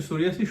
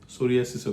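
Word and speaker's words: psoriasis: সোরিয়াসিসও কিন্তু সেরকম। নিউমোনিয়া বা থাইসিসের মত সোরিয়াসিসের প্রথমে একটা পি আছে যেটার উচ্চারণ হয় না পি এস এরকম ভাবে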